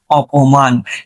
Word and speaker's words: অপমান: তাইলে আমরা বুঝতে পারছি যে এখানে অভিমানে উচ্চারণে কি আসে? ও। আর এখানে অপমানে উচ্চারণে আসে কি? অ।